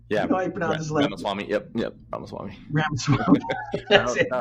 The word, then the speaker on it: Ramaswamy: I went to that Vivek Ramsworthy. I can't even pronounce his last name. Yeah, you know how you pronounce his last name? Ramaswamy.